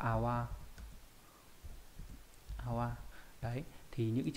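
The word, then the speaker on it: 泡: Đây là chữ phao đúng nhỉ, có nghĩa là bọt khí, đọc là awa.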